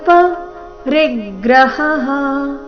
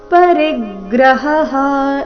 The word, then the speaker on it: ಪರಿಗ್ರಹಃ: ಎರಡು ದೀರ್ಘ ನಿರಾಶಿರ ಪರಿಗ್ರಹ ಪರಿಗ್ರಹ ರಿ ಮೇಲೆ ಆಘಾತ ಮುಂದೆ ಗ್ರ ಬಂದ ಕಾರಣ ಹ ನಂತರ ವಿಸರ್ಗದ ಉಚ್ಚಾರಣೆ ಮತ್ತೊಮ್ಮೆ ಹ ಎಂದು ಬರಬೇಕು ನಿರಾಶೀರ ಪರಿಗ್ರಹ ಈ ರೀತಿ ಎರಡು ಹ ಸ್ಪಷ್ಟವಾಗಿ ಕೇಳಿಸಬೇಕು ನೋಡೋಣ ಪೂರ್ತಿ ಶ್ಲೋಕ ಯೋಗಿಯುಂಜಿತ